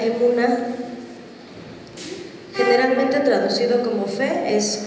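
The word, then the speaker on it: אמונה: confianza de nuestro Dios en en hebreo se pronuncia emuna Generalmente traducido como fe es confianza en Dios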